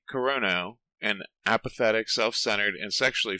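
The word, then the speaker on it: Kurono: Is it Corona? How do you say it? Corono. Corono is how the dub says it.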